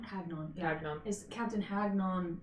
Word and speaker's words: Hagnon: Not retinue, encampment is Captain do you say Hagnon? Hagnon.